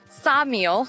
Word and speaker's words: Ksamil: So, we drove a quick 20 minutes down to head to Samile Beach. The K is silent, so it's throwing me off a little bit.